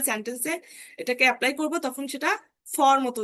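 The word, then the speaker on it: Zett: হবে, যখন আমরা সেন্টেন্সে এটাকে অ্যাপ্লাই করব তখন সেটা ফর মতো উচ্চারণ হবে। ভি, ফাও। এই যে ডাব্লু, ডাব্লু কে বলা হয় ভে। যেমন ভাস, এটা আমরা ইংলিশে কি বলি ওয়াস। ওয়াস, সেটাকে কিন্তু বলা হয় ভাস।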